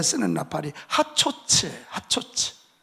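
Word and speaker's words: חצוצרה: 하나는 전쟁할 때 쓰는 나팔이 하초츠예요. 하초츠.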